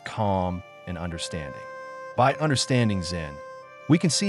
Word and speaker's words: Zen: Chan Buddhism to Japan, where it became known as Zen, the Japanese pronunciation of the Chinese term Chan.